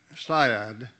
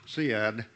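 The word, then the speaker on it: Seiad: and a landowner along the mid-klamath river at syad and i heard that pronounced siad but the pronunciation is syad originally the little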